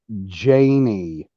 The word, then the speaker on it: Janie: Yes, it's pronounced Janie. Like, put a break right in between the third and fourth letter.